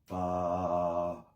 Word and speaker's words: Baphomet: The name Baphomet, you're supposed to say it like this. Baphomet.